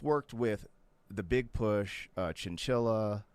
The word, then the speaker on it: Chinchilla: You've worked with the Big Push, Chinchilla. That's how you say her name, right? I'm saying it right. Okay. Like the animal.